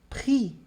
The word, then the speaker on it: prix: E aqui o último eu tenho, par exemple, prix. Prix. Prix. Percebe que eu vou até o I, mas eu não pronuncio o X.